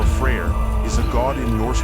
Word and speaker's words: Freyr: his sister nerfus prayer freyr also known as fry or freyr is a God in